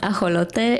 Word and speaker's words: ajolote: So an axolotl, it's pronounced ajolote in Spanish.